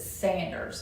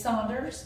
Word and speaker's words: Saunders: Is it Saunders or is it Sanders? Now, since we've done all this research, we know that it is Saunders.